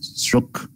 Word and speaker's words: stroke: Còn chữ stroke á, theo anh đọc chữ stroke o á thì nó người ta hiểu hơn, stroke nhớ khờ cuối đó nha.